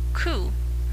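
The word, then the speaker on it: く: the word for death 9 pronounced ku can mean suffering you often will not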